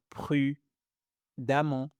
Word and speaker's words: prudemment: Mais faites attention, ici on prononce amon. Amant. Donc prudemment prudemment prudemment c'est bon parfait récent